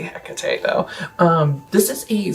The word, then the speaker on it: Hecate: Now, I have heard this band be pronounced as Hecate Enthroned. I say Hecate, though.